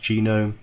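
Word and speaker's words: GNOME: environment or genome I know it looks like known but the section pronounced genome many others and these are all the different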